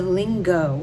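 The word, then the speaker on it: Lingot: in is called the lingo I think is how you pronounce it l-i-n-g-o-t but I think I think the t is silent and it this bag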